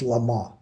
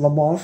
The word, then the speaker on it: Le Mans: it's going to be le man now you might see it's spelled lemons but it it's french so you really don't pronounce the n or the s at the end it's just le ma anyway le ma is